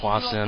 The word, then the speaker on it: HwaSin: St at 9:00 and I I pronounce it Wason I I noticed tasteless and some of his vods it says likein with an sh sound but I don't know